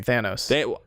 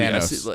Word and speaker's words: Thanos: How do you say his name, Robert? Because I think Colin and I say it differently. Thanos. They say it both ways in the movie. Thanos.